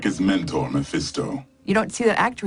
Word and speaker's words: Mephisto: Mephisto.